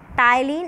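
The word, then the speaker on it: ptyalin: Salivary amylase जो है इसको हम लोग टाइलिन एंजाइम के नाम से भी जानते हैं, पी साइलेंट होता है।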